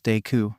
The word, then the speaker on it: Deku: that your name could be read as de pronounce deu since you're so stupid katsuki had repeated himself